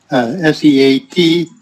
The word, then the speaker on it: seated: S-E-A-T-E-D. Seated. Yeah. So now there, the A is silent, but just like the word eat.